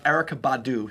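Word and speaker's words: Erykah Badu: entertainment weekly erica badou remember the syllables erica badu say with me erica badou has paid a 500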